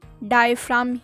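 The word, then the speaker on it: diaphragm: इसे हिंदी में डायफ्राम कहते हैं और इंग्लिश में भी डायफ्राम ही कहते हैं, इसमें G साइलेंट है।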